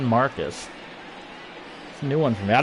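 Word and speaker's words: Márquez: marquez marcus hermann marcus hermann it's marcus new one for me i don't i watch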